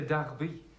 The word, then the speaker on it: Derby: Funny how it is spelled Derby. But strangely you say Derby.